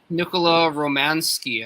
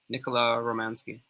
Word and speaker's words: Romanski: come to your lab nicola romansky i've been saying it wrong romance romanowski okay so nicola romanski but i think the